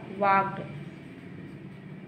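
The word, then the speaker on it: walked: वॉक मतलब होता है टहलना, और यहाँ पर सेकेंड होगा वॉक्ड। यहाँ पर यल साइलेंट होता है।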